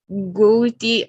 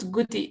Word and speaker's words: gouty: Okay, it's not gouty. It's like an A, an open A in Spanish. Gouty. Gouty. Gouty arthritis. gouty arthritis. Yes. It's an exception, the OU, like an A, it's an exception in pronunciation, but don't worry.